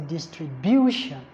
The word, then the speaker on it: distribution: I O N and we said earlier on that words that end with i o n or t i o n or s i o n the primary stress is always on the second syllable counting from the end so in this case a is the correct answer distribution okay now 59 is